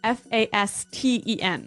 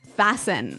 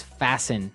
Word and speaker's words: fasten: interesting yes it's spelled f a s t n right so it would be Fast N no no right fasten fasten the T kind of becomes silent so it's fasten yep okay let's look